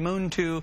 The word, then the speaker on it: Muntu: pronounce it because it it looks like MTU but we've been saying moon to Moon Moon to it